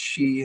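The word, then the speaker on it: sidhe: uh what they call a she uh or it's spelled si dhe if I remember correctly, but it's pronounced she and it's Gaelic and and that's her bit.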